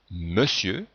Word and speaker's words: monsieur: Dans monsieur, on entend bien le son E, mais on écrit ON.